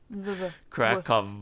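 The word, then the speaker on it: Kraków: Krakow is the proper way to say it. Yes. All the W's are V's, right?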